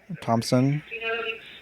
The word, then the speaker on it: Thompson: brian with 1r okay thompson with a silent h all right and my